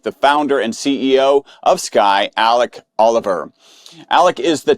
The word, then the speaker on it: SQAI: His company is pronounced Sky, but spelled S Q AI.